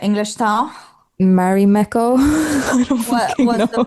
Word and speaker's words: Marimekko: to the Finnish brand Marimekko. I saw this. I'm pronouncing it very Finnish now, so I don't know if anyone understands, but it's this Finnish brand, Can you say it like English style? Marimekko.